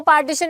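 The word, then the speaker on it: partisan: पार्टीशन mean ये वो पार्टीशन नहीं है जो इंडिया पाकिस्तान का हुआ था पार्टिजन पी ए आर टी आई एस ए एन जिसको हम प्रोनाउंस पार्टीशन बोलते हैं क्या क्या होता है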